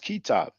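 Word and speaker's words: كتاب: So they will write k t b. You see, but they know it's pronounced kitab, And later on, because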